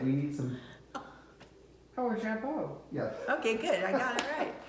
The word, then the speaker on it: jabot: Isn't he wonderful with his little, is that jabot? Is that how you say it? Yes, that's a jabot, isn't it?